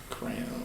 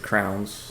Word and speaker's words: crayon: crayons yeah crayons yeah if you pronounce it crowns I know that just is like people pronounce them crowns I guess uh Southern if you have a southern twang or Western crowns Western like the west side yeah crowns it's crazy you like crayons it's crayon yeah pronunciated all the way yeah crayon okay how